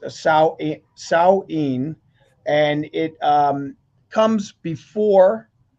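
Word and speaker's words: Samhain: Is pronounced Sao Saoin and it um comes before O Souls Day and comes before All Saints Day.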